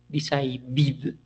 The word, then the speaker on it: decided: Therefore, what we are going to do is add this sound id. Decide, decided. Recommend, recommended.